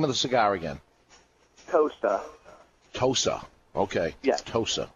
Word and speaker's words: Tosa: little bit uh so good move there uh pronounce the name of the cigar again tosa tosa okay tosa it's um it is well it's